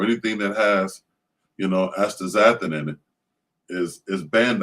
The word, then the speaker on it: astaxanthin: funny it's a funny spelling word but it's pronounced uh astaxanthin so there's a chemical called astaxanthin that they